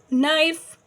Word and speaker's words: knife: Knife, K is a silent letter.